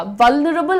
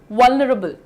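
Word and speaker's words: vulnerable: वनरेबल नहीं बोलना है। ठीक है? वनरेबल और वनरेबल बिल्कुल भी ना बोलें। लाइट रखिए प्रोनाउंसिएशन। व न रल। वल्नरेबल। वनरेबल। रबल बोल रही हूं ना मैं।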